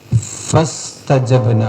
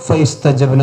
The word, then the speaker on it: فاستجبنا: ഫസ്തജബ്ന അവിടെ ഫ ഇസ്തജബ്ന എന്നാണ്, പക്ഷെ അത് ഹംസത്തുൽ വസ്ലാണ്. ഹംസത്തുൽ വസ്ലായതുകൊണ്ട് ഫ ഇസ്തജബ്ന എന്ന് ഓതാൻ പാടില്ല. ഫസ്തജബ്ന ഫസ്തജബ് ബ് ഫസ്തജബ്ന ലഹു ഫകശഫ്ന ഫകശഫ്ന മാ ബിഹി മിൻ ദുർ.